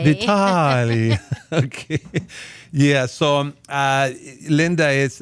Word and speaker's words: Vitale: Well, if you were in Italy, it would be Vitale. Vitali.